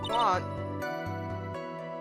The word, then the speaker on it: Juan: So, the name Juan with the J is Juan, right? The J is silent. J silent, so it's Juan.